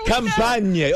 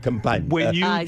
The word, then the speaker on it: Campania: Campania. Oh, you illiterate Americans, you. The region of the Amalfi Coast is where they. That's called Campania.